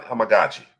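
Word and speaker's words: Amegadjie: Do we go with Kurin Amagaji is how you pronounce it. Amagaji. It's Kuran Amagaji. That's how you pronounce his name. Finally got it under my belt here. Amagaji.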